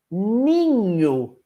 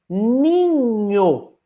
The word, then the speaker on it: ninho: Vejam, para fazer ninho, eu uso 5 letras, mas na pronúncia, na, i, nha, o, ninho. Ué, tem um som a menos em comparação às letras. Claro, NH representa um dígrafo. 2 letras, mas apenas um som.